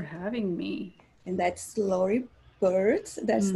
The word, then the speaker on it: Beard: And that's Lori Beard. That's how pronounced. Because it's beard, like facial hair.